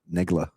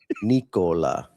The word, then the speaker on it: Nikola: When pronouncing Nikola Jokic, you gotta be careful. Negla. That's not what I said. It's a K. Nikola.